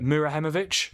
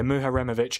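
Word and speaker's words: Muharemović: Murahemovic, is that how you say it? Yeah, Muharemovic.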